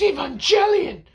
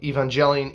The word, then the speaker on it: Evangelion: to be people going it's evangelion because uh it comes from the word evangelist so evangelion evangelion i got a better